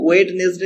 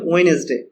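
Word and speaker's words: Wednesday: এখানে দেখো যে এখানে ওয়েডনেসডে এরকম কিন্তু আছে, এটা কিন্তু ওয়েডনেসডে এরকম উচ্চারণ হবে না, এটার উচ্চারণ হয়ে যাবে ওয়েডনেসডে, ঠিক আছে, এটা মনে রাখবে।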